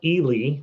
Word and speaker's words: Ely: So it's pronounced Ely, apparently. Ely.